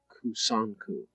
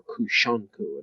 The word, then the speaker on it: Kusanku: This form was originally known as kusanku, or kushanku, another pronunciation.